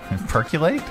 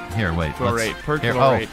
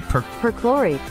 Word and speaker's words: perchlorate: How to pronounce percolate? Perchlorate. Oh, it's our pronounceify lady here. Perchlorate. Okay, perchlorate.